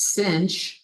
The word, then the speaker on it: sinh: And the hyperbolic sine function, pronounced sinh, is almost identical.